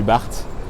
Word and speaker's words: BART: Il s'agit du BART. Donc petite anecdote, ils appellent ça le BART, mais ils ne prononcent pas le T aux États-Unis, très peu du moins. Du coup ils disent le bar.